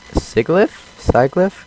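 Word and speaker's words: Sigilyph: do they just like exploding and hello Sig sigli sliff is how you you pronounce the name of that one down there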